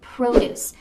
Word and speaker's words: produce: Here the emphasis is at the end.